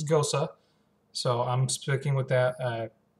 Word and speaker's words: Gose: My dad used to do a lot of travel in Germany back in the late 90s, and he says proper pronunciation is Gose.